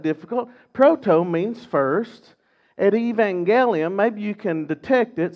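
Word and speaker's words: protoevangelium: proto means first at Evangelium maybe you can detect it some people pronounce it Evangelion you hear the word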